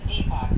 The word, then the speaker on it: Deepak: It's Deepak, that's how you say it, correct? Yes, my name is Deepak here, Deepak.